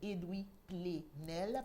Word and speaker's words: Edwy Plenel: presse et doubler rennes ça s'écrit ed w lee edwin coq edwin chez nous mais sans le n il s'appelle edwy plenel paix est le 2è